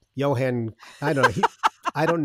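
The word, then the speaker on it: Jon: to tell me yeah i say john christensen but he's like no it's johan i don't know i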